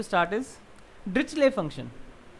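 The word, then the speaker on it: Dirichlet: चलिए, so what we are going to start is डिरिचले function. कई लोग इसको डिरिचलेट भी बोलते हैं, बट हाउ you want to pronounce. Usually इसको डिरिचले फंक्शंस बोला जाता है।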